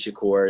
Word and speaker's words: Shakur: you know a famous Shakur that's how she pronounces her name a little strange but a fantasy course